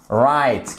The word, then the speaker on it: write: irréguli ou pase exactement alors on entend que ça WE mais on met bien le W d'accord parceen fait ça prononce ex comme right qui signifie vrai juste